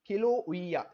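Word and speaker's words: Kīlauea: सबसे पहले देख लेते हैं, ये देखिए हवाई का किलोउइया। इसका थोड़ा प्रोनाउंसिएशन डिफरेंट है, थोड़ा अलग नाम है ये,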